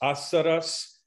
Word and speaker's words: asaras: Notice asaras, the first is stressed, so it's fuller, but the others reduced to schwa.